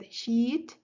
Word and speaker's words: heat: wanted to remember that with heat you should always pronounce it with an i a long I otherwise if you just